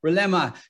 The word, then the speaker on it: Rilema: let's get founder Rilema on the line, and she joins me now. Welcome. Did I get your surname pronunciation correctly? It's actually Rilema.